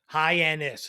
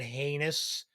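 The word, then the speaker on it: Hyannis: was a guy that mispronounced henus which is the next town over h y NN i s henis it's not hard he called it heinous like a heinous act I don't know where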